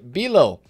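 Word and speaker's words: Bijlow: First of all, I want to talk about the player SBC that we had, the Bilo. I believe is how you pronounce his name. The J is silent, I am told.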